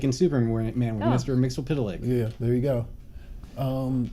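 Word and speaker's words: Mxyzptlk: types of funny characters like in Superman Mr mixopita Lake yeah there you go um so yeah I mean it's just you know and Marty's actually saying that the correct pronunciation is mix is pit talk what didn't see his well that's part yeah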